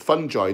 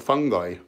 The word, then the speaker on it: fungi: know it's a fungi by the way you pronounce it fun joy not fungi at least mycologists do you and they're the experts yeah and I